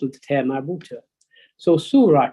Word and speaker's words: Surah: When you read the first chapter of the Quran, it says Surah 2, that's a scene with a Dhamma. Wow makes it a long U sound. Su, then Ra with a Fatha.